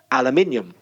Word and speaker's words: aluminium: about just accent but I'm talking about actual pronunciation most British people say the word alum menial something like aluminium more or less it depends if you're Scottish